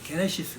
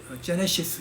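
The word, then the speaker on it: Γένεσις: 책의 첫 제목이 뭡니까 게네시스 그든 그것도 창세기로 오역을 해버린 거예요 근데 그건 이제 그 저 영어 성경은 제대로 했죠 제네시스 이렇게 했죠 때 원래 발음은 게네시스 근데 영어식으로 제네시스가 버린 거죠 그래서 그것은 그 음력을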